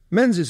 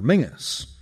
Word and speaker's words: Menzies: Menses in fact preferred his surname to be pronounced in the traditional Scottish manner Mingus which was the original of the nickname Ming the Merciless.